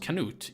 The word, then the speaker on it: Canute: It's pronounced Canute in English, but in Swedish it's called Knut. And in Danish, it's called Knud.